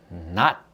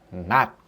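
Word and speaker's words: 낮: Vokal konsonan N, lalu vokal A. Lalu konsonan akhir gini. Makanya jadi not, not, not.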